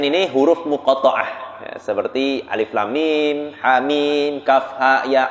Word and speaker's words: Alif Lam Mim: Kalau nyambung itu alam bacanya. Alam, kan salah alam. Tapi alif lam mim gitu.